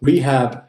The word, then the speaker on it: rehab: So rehab has 2 syllables. It instantiates end clipping. Rehab as such is not a morpheme, it's submorphemic. It ends in a consonant. It has initial stress.